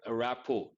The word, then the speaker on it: rapport: We use the word rapport. T is silent.